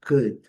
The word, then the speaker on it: could: os modais, could, should, lembrando, letra O silenciosa, letra L silenciosa. E a pronúncia é bem simples, bem curta, bem rápida. Cut, cut, cut. Esse u lá do fundo da garganta, bem curto, bem rápido. Cut, não pode, nem c, nada disso.